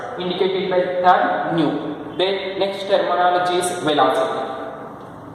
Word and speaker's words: nu: This is nu. It is pronounced as nu. That is nu.